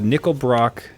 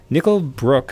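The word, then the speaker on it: Nickel Brook: yeah I'm opening up nickle Brock nickle Brooke sorry I should think things pronounced nickle Brooke brewing zap sour IPA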